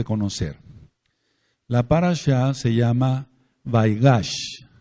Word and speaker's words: Vaigash: de debemos de conocer la par se llama vaigash vaigash se escribe ve chica a i g a c